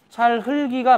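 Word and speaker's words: 찰흙이: 리을 기역 받침인데 뒤에 자음이 없고 모음으로 바로 이어지죠? 그럴 때는 연음이 되면 무조건 뒤에 있는 게 연음이 되죠. 그러니까 리을은 받침으로 발음되고 기역은 뒤로 넘어가서 세 번째 음절에 초성으로 발음이 되죠.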